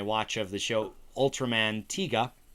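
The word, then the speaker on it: Tiga: of the show Ultraman tigga not tiger though it looks like tiger uh tigga is how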